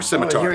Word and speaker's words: scimitar: All right, Azim with a scimitar. Or scimitar. Some people don't pronounce the C.